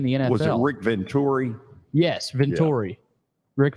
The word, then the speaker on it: Venturi: was coached in the internet was it rick Venturi Yes vittori Rick Venturi it was not that was not a great